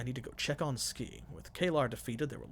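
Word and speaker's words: Skie: I need to remember her name is Ski because everyone keeps pronouncing it that way, and I want to call her Sky because I feel like Ski is an odd name.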